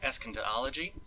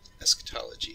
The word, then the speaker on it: eschatology: know the i hope i say it right escondology eschatology yeah that the part of theology concerned with